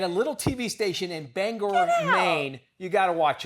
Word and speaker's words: Bangor: Yeah, it's Bangor. All right. Bangor. And for the longest time, I thought it was Bangor.